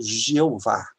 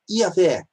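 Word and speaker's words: YHWH: Durante muito tempo ele foi pronunciado como Jeová, mas é uma pronúncia errada. Depois ele começou a ser pronunciado como Javé, mas também é uma pronúncia errada, até porque a letra J não existe no hebraico. Então passaram a chamá-lo de Iavé, Yaú.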